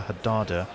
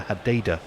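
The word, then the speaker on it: Hadeda: Ravinair says the particular ibis species is known locally as either a Haddada or a Hadada, so either is correct. I think it's about the intonation, whether it's hard. It's about upon which syllable Hadada. you put the emphasis.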